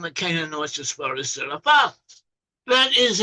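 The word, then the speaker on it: צרפת: The name for France in Hebrew is Tserefath, or Tserefath. It's sometimes spelled with a Z, Tserefath, but in Hebrew it has a TS sound, a tsa, Tserefath.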